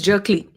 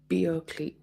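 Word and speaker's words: Bjerkely: so pronunciation is Jerkley yeah jerkly is probably the right pronunciation okay or I think the J is silent in the Nordic countries.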